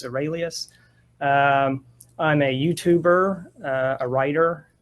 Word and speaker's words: Seralius: And for viewers, again, the last name is pronounced Seralius. Every now and then people think Seralius, but it's Seralius.